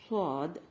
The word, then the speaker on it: صاد: இந்த இரண்டு எழுத்துக்களும் வாய் நிறைய சொல்ல வேண்டும். ஃபுல் மவுத் லெட்டர்ஸ் என்று சொல்வோம். அதாவது இதனை உச்சரிக்கும் போது வாய் நிறைந்ததாக சொல்ல வேண்டும். எவ்வாறு? ஸாத், ضاد, ஸாத், ضاد, ஸாத், ضاد. سين، صاد، ضاد، شين، را، தால், சீன், ஜ.